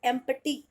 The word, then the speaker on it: empty: बोलते हैं खाली, और एक्चुअल में पी होता है साइलेंट, और आप इसको प्रोनाउंस करोगे एम्प्टी, एम्प्टी place, एम्प्टी place. होता क्या है फ्रेंड्स, पी जो है ना वो एकदम स्लाइट आएगा, बिल्कुल स्लाइट आएगा, आप बिल्कुल ना के बराबर बोलना।